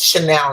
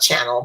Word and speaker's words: Chanel: And this Chanel, not Channel, but Chanel Chance.